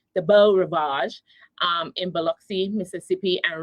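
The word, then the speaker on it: Beau Rivage: at a MGM hotel which is called the Bo Ravage. It's spelled B E A U R I V A G- E. the Bell Ravage um in Beluxy, Mississippi.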